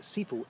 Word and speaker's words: Sifu: or instructor and seafood it also could be pronounced with a diphthong and the prefix of the word instead of the Sifu si fu it could be also a spelled SH I fu Shifu call it what you